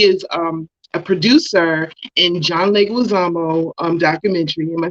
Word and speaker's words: John Leguizamo: you guys she is um a producer in john leguizamo um documentary am i saying it right yes